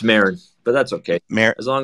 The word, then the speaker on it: Marin: I want to Yeah, pronounce it correct. it's Marin, but that's okay.